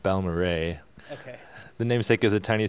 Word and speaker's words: Balmorhea: pedals arena corner and I'm here with the ball Maria player who made the rock music in Philly